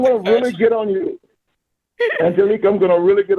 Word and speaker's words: Angelique: Angelique. Am I pronouncing your name right?